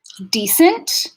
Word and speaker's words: decent: Decent, dissent, and dissent. All right, so starting with decent, we're going to hear the stress pattern on the first syllable with a tense vowel at the front of the mouth.